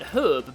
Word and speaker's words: herb: Yes, I pronounce it herb because I'm not American.